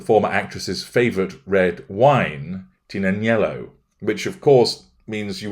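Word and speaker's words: Tignanello: actress's favourite red wine, Tinanello, which of course means you wouldn't call it the Tig, because the G is silent, once again demonstrates her level of dim-wittedness.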